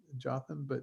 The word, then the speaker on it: Jotham: Yotam in English is Jotham, I think we pronounce it, Jotham, and we'll talk more about him in a second or why he's famous.